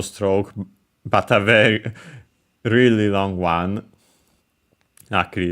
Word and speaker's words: を: But yes, more often than not, it's pronounced simply as o, but also as a wo, except in when in careful speech or when singing.